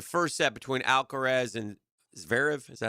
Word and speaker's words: Zverev: I was at work last night when the first set between Alcaraz and Zverev, is that how you say it? Zverev, yeah.